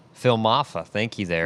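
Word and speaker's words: Iamaleava: how do you say that last name Phil mafa thank you there mafa yeah more than 88 85 a half uh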